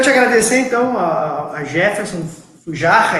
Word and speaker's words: Fujarra: Bom, quero te agradecer então a Jefferson Fujarra, é assim que pronuncia, Jefferson? Jefferson Isso. Fujarra.